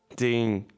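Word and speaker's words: tenho: The letter h by itself is always silent but nh the combination with n creates a new sound. Okay. Tenu tenu okay I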